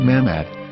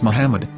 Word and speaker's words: Muhammad: after the H according to Ben yehuda's Hebrew English dictionary it is correctly pronounced as Muhammad not mammad so how we're going to know for sure if it's pronounced as Muhammad the Muslim Prophet or